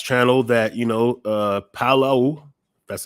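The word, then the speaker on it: Palau: on my last channel that you know uh Palo that's how you pronounce it was doing a pilot project with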